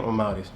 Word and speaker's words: Amauris: That's how you say my name, Amauris.